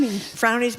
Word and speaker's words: Frownies: Would you call them frownies? Frownies. M rhymes with brownies, I guess.